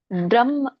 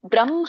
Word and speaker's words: ಬ್ರಹ್ಮ: ಇದೆ ಒಂದು ಶ್ಲೋಕ ತಗೊಂಡು ಬ್ರಹ್ಮ ಬ್ರಹ್ಮ ಅಂತ ಹೇಳಬೇಕು ಅಲ್ಲಿ ಮ ಉಚ್ಚಾರಣೆ ಬರುತ್ತೆ ಆಮೇಲೆ ಹ ಉಚ್ಚಾರಣೆ ಬರುತ್ತೆ ಹೇಗೆ ಈ ಒಂದು ಅರ್ಕಾವಳಿ ಇದೆಯಲ್ಲ ಅರ್ಕಾವಳಿ ಹೇಳುವಾಗ ನಾವು ರ ಫಸ್ಟ್ ಹೇಳ್ತೇವೆ ಅದರದ್ದು ಒಂದು ಒತ್ತಿದ್ದ ಹಾಗೆ ಅದು ಅದನ್ನ ಹೇಳ್ತೇವೆ ಹಾಗೆ ಇಲ್ಲಿ ಮ ಹೇಳಿ ಆಮೇಲೆ ಹ ಹೇಳಬೇಕು ಬ್ರಹ್ಮ ಬ್ರಹ್ಮ ಆಮೇಲೆ ಮ ಹೇಳಿ ಹ ಹೇಳಬೇಕು ಹ ಲಾಸ್ಟ್ಗೆ ಉಚ್ಚಾರಣೆ ಬರುತ್ತೆ ಹಾಗೆ ಇಲ್ಲಿ ಬ್ರಾಹ್ಮಿನು ಕೂಡ